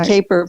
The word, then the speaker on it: Kapor: And interestingly, my name in the States is pronounced Kapor.